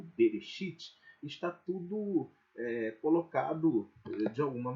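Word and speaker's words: בראשית: Que aí vocalizando para a gente poder pensar melhor e pronunciar melhor, fica aí como Bereshit, né?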